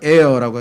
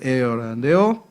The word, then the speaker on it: heir: 자, 그래서 예수 그리스도는 타이틀 중에 하나가 H-E-I-R, heir라고 하죠. H는 발음이 안 됩니다. 그래서 heir라는데요.